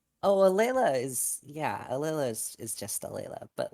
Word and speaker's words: Alela: not right so okay so how do you pronounce your name oh leila is yeah alilah is just a layla but like okay um